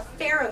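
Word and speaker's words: faro: we in magic speak call a pharaoh shuffle. It has nothing to do with Egypt. It's actually spelled with an F.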